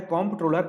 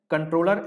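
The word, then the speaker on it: Comptroller: इसका सही अर्थ होता है कॉम्प्ट्रोलर एंड ऑडिटर जनरल, क्योंकि मैंने बहुत लोगों को गलत उच्चारण करते हुए इसका देखा है, कंट्रोलर एंड ऑडिटर जनरल पढ़ते हैं, लेकिन बिल्कुल भी ऐसा नहीं है। ये क्या है? कॉम्प्ट्रोलर।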